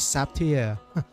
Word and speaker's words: Zaptiye: Ang title pala nitong game na 'to guys is Sapti SP. So parang Russia kasi siya. So kaya ganun yung bigkas niya.